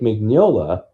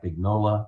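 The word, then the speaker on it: Mignola: And the famous artist Mike Mcnola or Mike Mcnola, depending how you're told to pronounce his name, drew these beautiful covers, one of which is Robin Slow-mo with blood all over him.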